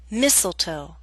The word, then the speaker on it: mistletoe: a list of words in which a t- sound is left out note that this list is not complete listen as I say the words bustle Christmas hustle mistletoe whistle wrestle now bustle